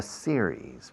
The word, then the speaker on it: series: We are We have suffered Contraction, we've suffered a series. Because it's singular, but it terminates in the S. It's a plural. Series, two syllables.